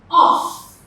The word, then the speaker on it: of: Take note, when pronouncing this word off, you have the f sound. But when pronouncing v, when you're pronouncing of, it's the schwa and v. Okay? So this sound here is v.